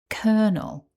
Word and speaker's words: colonel: The pronunciation guidance from the Cambridge online dictionary shows that this word has two syllables and the stress is on syllable one. So it's kernel.